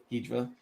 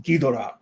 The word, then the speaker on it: Ghidorah: The people who starred in the films, they'll say it one way, Ghidra, and then you'll talk to the especially during the I think it was the Heisian era, and they pronounce it Ghidorah. So it's six one way, half a dozen another.